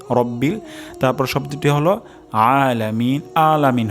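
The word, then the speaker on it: ربِّ: আলহামদুলিল্লাহি তারপর শব্দটি হলো রব্বিল রব্বিল এখানে র মোটা হবে রাব্বিল হবে না রব্বিল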